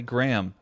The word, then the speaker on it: Graham: that did i say graham and the way that i do um because i pronounce it with the the h silent i guess yeah like graham crackers yeah graham i don't